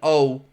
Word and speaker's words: Mastantuono: to trigger Franco Mastanuono's, excuse my pronunciation of this, but it's Mastantuono.